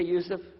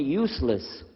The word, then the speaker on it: Yusuf: My name is Yusuf. Can you say Yusuf? Let me say Yusuf. Yeah, very good. I wish you'd teach my wife. She keeps mispronouncing it. She calls me useless.